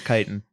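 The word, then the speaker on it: chitin: or whatever it is is that how it's pronounced doctors say that eating may cause inflammation oh it is kiten uh kiten yeah inter okay thank you producer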